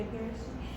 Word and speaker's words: Pharisee: Pharisee. Yeah, Pharisee.